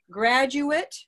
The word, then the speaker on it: graduate: So graduate would be the noun. A person is a graduate of their college. Now, if we change that from graduate to graduate, graduate is the verb to graduate from school.